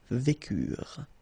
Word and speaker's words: vécurent: Ils vécurent, so remember, mark for the plural, and T is not pronounced phonetically, you don't get it, so vécurent, okay?